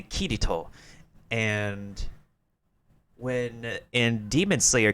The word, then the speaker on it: Kirito: Like, an example in, I forgot which show was it, instead of saying Kirito, you say Kirito.